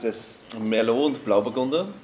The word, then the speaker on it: Blauburgunder: You're going to have to pronounce this. Merlot and Blauburgunder. Blauburgunder.